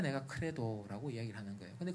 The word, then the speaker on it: Credo: C-R-E-D-O를 크레도라고 읽는데 저것은요.